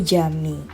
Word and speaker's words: Camii: Sebenarnya kalau tulisannya itu Tokyo kami ya, tapi dibacanya itu Jami.